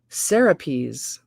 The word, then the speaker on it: Serapis: this oh caps lock serapris pronunciation boom Sarah peas I'm glad I looked um a piece Sarah